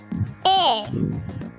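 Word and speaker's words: heir: वारिस, वारिस को हम बोलते हैं ए, ए। इसका एच और आर साइलेंट होता है।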